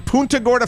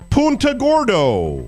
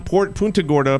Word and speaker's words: Punta Gorda: In Punta Gorda, Florida, that's just up the road from me, just a little bit north of where I am, or as Jimmy Cerrito pronounces it, Punta Gordo.